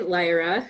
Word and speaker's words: Lyra: And so I play Lyra, which is the proper pronunciation of her name.